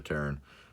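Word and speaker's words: Pteran: Is the P silent or is the T silent? Yeah, I think the P is silent, so it's probably Terran. Enters the battlefield with your choice of flying or hexproof.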